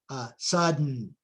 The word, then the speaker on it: sudden: Notice that you stop on the D and release on the N, so to speak. Sudden.